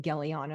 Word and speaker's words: Gellyahnah: to find me by my name gelana because it's phonetically spelled but is the same